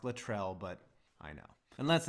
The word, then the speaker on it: Latrell: have the choke yes it's pronounced Latrell but I know and let's not forget you